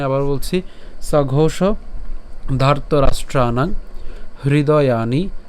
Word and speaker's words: হৃদয়ানি: হৃদয়ানি, এটা হৃদয়ানি, দেখেন এটা হ্রি। যদি ইংলিশে লিখি HRI, এই হরি যেটা, এর উচ্চারণটা কার মতো? HRI এর মতো উচ্চারণ করেন, তাহলে খুব সহজে আপনারা উচ্চারণটা করতে পারবেন।